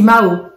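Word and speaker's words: Mahault: C'est Mao. Et Mao, ça s'écrit M-A-H-A-U-L-T. Et tout de suite, c'est vrai que ça fait consonance asiatique, alors que ça ne l'est pas.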